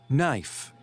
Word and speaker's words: knife: 4, knife. 5, Right. 6, might. Knife and might. Okay, very good, Manu. Knife and might. All right. Okay. Number 4, knife. We don't pronounce the first letter K.